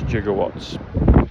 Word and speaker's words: jigawatts: Gigawatts the way they spell it um in Back to the Future is uh j i g o w a t t s. I've seen it other ways like the gigawatts, but it's jigawatts um which is 124 which is New Jersey.